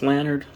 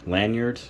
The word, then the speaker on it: Lanard: I believe it's pronounced Lanard. Lanyard. Well, it doesn't really have a Y in there, so Lanard Toys.